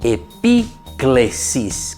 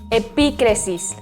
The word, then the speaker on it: epíclesis: Esa palabra se dice epíclesis. ¿Cómo se dice, queridos chicos? Epíclesis. Muy bien, es una palabra griega. Epíclesis.